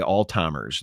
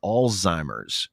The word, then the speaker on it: Alzheimer's: They say Alzheimer's. There's no T in that word. It's a Z. It's Alzheimer's.